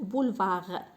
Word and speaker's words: boulevards: هنايا هاد الدي والاس ما كنطقوهمش، كنقولوا بولفار.